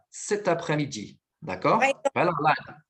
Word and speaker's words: cet après-midi: Você vai pronunciar com a devida ligação. Então, vai ficar cet après-midi.